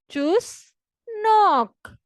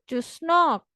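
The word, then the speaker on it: чеснок: जैसे चुस मारना तो आपको पता ही है, मतलब कि आप कोई फजूल बात करते तो हम कहते हैं यार चुस मत मारो, फजूल बातें मत करो। और नॉक मीन्स दरवाजा खटखटाने वाला, इंग्लिश वाला नॉक।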